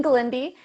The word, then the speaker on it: Glende: I mispronounced your last name, didn't I? That's all right. Everybody does. Glende.